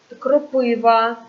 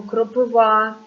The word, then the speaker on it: кропива: лікарська, мальва, чорнобривці, барвінок, кропива або кропива, і по-різному можна наголос ставити.